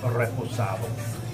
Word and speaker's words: Reposado: And then, of course, the three levels, Blanco, Reposado, I'll get it right, or Anejo. So, yeah, it's interesting to tell how different they are. In Spanish, you have to roll your R's, so it's like Reposado.